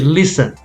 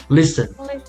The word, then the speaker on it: listen: listen no we say listen listen hustle hustle fasten christmas yeah yeah so the t is silent st st also